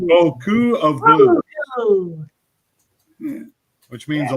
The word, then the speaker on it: Beaucoup of Blues: Final Richie wants to know whether he's been mispronouncing that Ringo. Yeah, Bakupsa Blues, my friend. Bakupsa Blues. Boku. Beaucoup of Blues.